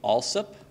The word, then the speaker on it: Alsop: to say is that locals to central Virginia would pronounce this name alsip right I'm from Massachusetts where